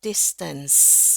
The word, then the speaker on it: distance: Yes, that's about the right distance, ya. Tulisannya a ence e, ya. Saya suka bacanya ance. Tapi itu bacanya ens, ya. Ens, ens.